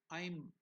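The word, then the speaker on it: ऐं: will get confused and in English we will learn it as aim it's not aim it is I'm how is it pronounced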